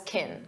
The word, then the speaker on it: can: When it's an auxiliary verb, we pronounce it as kin.